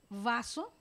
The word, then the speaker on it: vaso: Si nosotros pronunciamos beso, es bilabial, beso, ¿verdad? Pero si decimos vaso, es más rosante. Beso. Si digo beso, lo digo beso, pero si digo vaso, queda como si fuera a pronunciar una V.